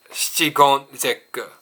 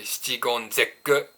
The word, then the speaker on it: shichigon zekku: Japanese say shichigon zekku.